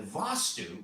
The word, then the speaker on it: vastu: electrical nerve flow through the body and the vastu and the vostu which is spelled v-a-s-t-u the vastu which means the vessel